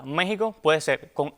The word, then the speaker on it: México: México puede ser con X o con J. Sin embargo, lo recomendado por las academias de la lengua española es que se mantenga la X, cuya pronunciación sería como J.